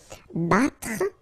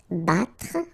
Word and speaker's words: battre: Okay, then battre. Battre. Okay, even if you get deux T here, two letters, well, basically you get only the sound of one. Okay, battre.